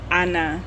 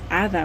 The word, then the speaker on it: Ada: and my stage name, people who speak Spanish, they say Ana Martin, and I say no, it's Ada Martin.